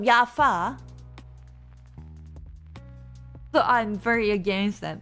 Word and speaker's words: Java: Yeah, I mean, for instance, German people say Java, the programming language, as Java, which I'm very against it because they also pronounce V as F. But they are calling it Java instead of Jaffa.